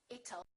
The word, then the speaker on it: it'll: Don't say it'll. Let's change that T into a fast D and say it'll. It'll rain. It'll be hot. It'll be nice. It'll rhymes with the word little.